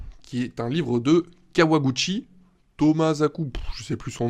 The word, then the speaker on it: Kawaguchi: de la merde pourtant c'est pas compliqué Kawa comme le café Kawa Gucci Gucci comme